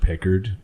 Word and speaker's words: Picard: It's pronounced Pickard.